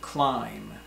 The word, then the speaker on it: climb: off another word is climb like you're going to climb a mountain or climb up the stairs that's climb CLI and B but B is silent so we don't say climb but climb climb another example is